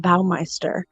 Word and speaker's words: Baumeister: But when you talked about doing a special on another serial killer, yeah, my uncle Roger Goodlet was one of, it's pronounced Herb Baumeister, one of his victims here in Indiana.